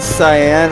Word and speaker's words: Cyan: head okay when you said cyan I thought it was spelled like s I a n or something like oh man exactly yeah yeah it's just the color syan special thing